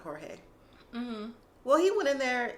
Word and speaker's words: Jorge: Well, he goes by George, but he's Spanish, so I think his family pronounced it Jorge.